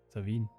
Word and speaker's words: Samhain: The Celts celebrated a festival called Samhain, pronounced Samhain, because back then letters were more of a suggestion.